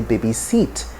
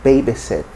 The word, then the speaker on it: babysit: with this word uh it's wrongly stressed most times in nigeria so you'll get to hear people say baby seat baby seat but the pronunciation is babysit the second is background